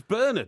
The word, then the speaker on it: Bernard: It's not Bernard. It's Bernard. Well, it's like St. Bernard, isn't it?